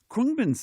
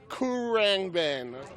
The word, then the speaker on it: Khruangbin: It's a Thai word that sort of means airplane, and it is a tough one for even die-hard fans to pronounce. I was calling it, like, Khruangbin. Khruangbin.